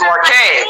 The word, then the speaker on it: Marquez: You're not saying her name right. Say her name right, and that's how I know you're going to love her. That's it's Marquez.